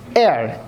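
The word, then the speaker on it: heir: এর আগে হবে অ্যান একইভাবে এয়ার এই সের উচ্চারণ কিন্তু নাই এয়ার মানে কি উত্তরাধিকার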